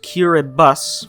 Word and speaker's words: Kiribati: what country this one right here this one kiribati and yes it's pronounced curibus for some reason that makes an us sound